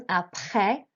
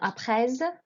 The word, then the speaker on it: après: So here we have the first one, après, not après. You don't pronounce the S at the end, just the last vowel sound, après le collège.